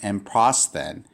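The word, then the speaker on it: ἔμπροσθεν: So this is pronounced, the first word of this rule is pronounced emprosthen.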